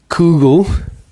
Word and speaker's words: kugel: can completely imagine like a kugel which rhymes with Google if you are interested